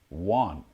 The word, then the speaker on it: yuan: Yuan. The yuan. It's pronounced. I think it's written Y-U-A-N, but if you listen carefully, they sort of pronounce it with a U at the start, but if you just